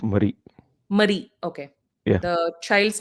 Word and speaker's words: Marie: On her gravestone were the words Murray, and it's pronounced Murray. Marie.